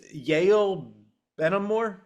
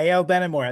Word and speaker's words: Yael Benamor: It's Yale Benamor. Is that Yale Benamor? Yeah, Yael Benamor.